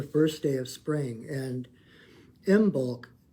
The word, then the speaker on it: Imbolc: And happy Imbolc. It's Imbolc, which is the Celtic celebration of spring. It is on the Celtic calendar, Imbolc.